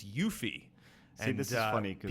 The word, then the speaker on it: Yuffie: I remember when we originally did the Final Fantasy retrospective, I called her Yuffie, and it's Yuffie.